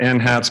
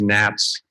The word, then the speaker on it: NHATS: I call it an hats but that's wrong it's Nats so so forgive me